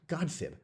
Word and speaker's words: godsibb: And gossip was back in the days of Old English, pronounced godsib, which, if you go even further back, was a combination of two words, God and sib.